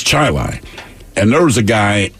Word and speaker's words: Chili: a suburb of Rochester and it's spelled Chile c-h-i-l-e but if you live there it's chili and there was a